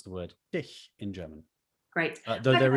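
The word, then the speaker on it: dich: native german speakers is think of it like the letter h in the word human say it slowly go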